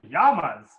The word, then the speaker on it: llama: shoes for my llama in Spanish we call them Yama's suggestion Beck another suggestion